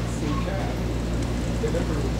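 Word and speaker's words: Phuket: P-H-U-K-E-T is how you spell it, but you gotta watch how you pronounce it. Yeah, but anybody that was in the Air Force when I was in there call it Phu Khao.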